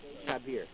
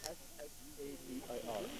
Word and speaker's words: Shabir: Shabir. You spell it S-H-A-B-I-R.